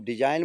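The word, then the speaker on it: design: डिजाइन में देखो एन से पहले जी आया है तो इसमें हमेशा जी साइलेंट रहेगा उसको हम डिजाइन बोलेंगे डिजाग्र नहीं बोलेंगे अगली मीनिंग है रिजाइन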